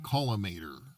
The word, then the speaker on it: collimator: This is the X-ray caliminator pronounced columator a concept by Jean Watson using nuclear fusion.